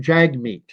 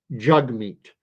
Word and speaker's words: Jagmeet: She calls him Jagmeet. yeah. And the name is pronounced Jugmeat.